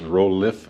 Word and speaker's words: Rolef: again this is from I may be pronouncing it wrong I don't think it's rool I think it's rolff rolff uh from out of Canada uh r o l EF uh you can find